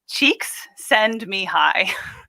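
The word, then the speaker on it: Csikszentmihalyi: he's a mapster um he likes to say that it's cheeks send me high and that's how you remember how to say it cheeks i like it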